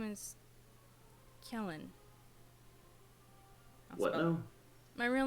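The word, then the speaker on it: Quellen: it's not very secret my real name is Kellen my real name is Kellen Kell Kellen I'll spell it out for you thank you CU this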